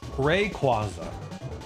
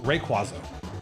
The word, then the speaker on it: Rayquaza: Rayquaza is how I pronounce it. Rayquaza. Rayquaza. And this follows the stress patterns that I just described of the third to last syllable being the stressed syllable. Rayquaza.